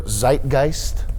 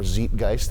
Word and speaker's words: Zeitgeist: by and for their Zeitgeist or Zeitgeist if you want to go with the moist critical pronunciation everybody is uniquely a